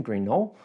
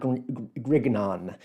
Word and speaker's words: Grignon: going to defend uh default to the French more French pronunciation green Knoll uh but that's it's not grignon um this is this